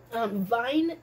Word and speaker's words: Wein: Wein basically means wine. Remember what I said? W's are pronounced as V's.